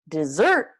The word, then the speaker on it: dessert: desert desert so the stress is how you can tell which word it is desert desert desert desert desert is the place that's really dry and hot and there's not a lot of water desert he's like cake ice cream cookies something like that for the end of a meal desert desert okay and